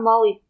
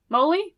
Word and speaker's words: moly: here how to prounce is it holy Moly Moly not not Molly molum like I have no idea it is Moly Moly okay good to know